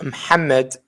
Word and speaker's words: Muhammad: my name is Mohammed, but it's pronounced Muhammad in our accent.